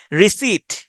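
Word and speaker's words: receipt: এম এন্টিমেন্ট পারলিয়ামেন্ট ওকে রিসিট উচ্চারণটা হচ্ছে রিসিট কিন্তু বানটা যদি আপনি খেয়াল করেন আরই সিই রেসি আই রেসি আই পিটি রেসপ রেসে হয় রেসপ হয় কিন্তু উচ্চারণটা হচ্ছে রিসিড রিসিপিয়েন্ট রিসিপিয়েন্টেও একই রিসিপিয়েন্ট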